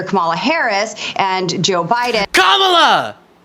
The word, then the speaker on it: Kamala: Harris and Joe Biden Kamala is the pronunciation go and well in